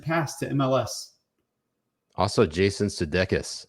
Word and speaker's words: Sudeikis: Also, Jason Sudeikis. Sudeikis. Am I pronouncing that correctly? Sudeikis? That is correct. Wow. That is how you pronounce it in the Greek mother tongue.